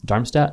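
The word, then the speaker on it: Darmstadt: So that was um your decision in that point to go to DAR Dharmmstat. Am I pronouncing that right? Yeah. So you went to Dharmmstat 98.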